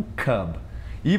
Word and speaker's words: cube: E, por exemplo, a palavra cub, por exemplo, um filhote de panda, é um cub. E você coloca um E no final e vira cube, porque é o som de U.